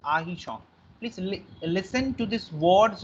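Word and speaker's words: artichaut: सो मैं फिर से बोल रहा हूं, टी का प्रोनाउंसिएशन और आर का प्रोनाउंसिएशन फ्रेंच में नहीं होता है. सो इट्स आर्टिशॉन. इट्स आहिशॉन, not arti, sorry, it's ahichon.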